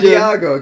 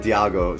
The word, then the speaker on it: Diego: wait, what's the right way to pronounce that? It's I wanna know. Diego, but I just said Diago to be funny because it's Oh, from Diago.